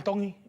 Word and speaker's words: Tongi: My name is I am Tongi and I'm from Kahuku, Hawaii. Tongi. Tongi. Tongi. You pronounce a T's like a D in the Tongi culture.